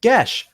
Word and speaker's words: Geass: couple times today actually Geass GA geas is pronounced gesh the more you know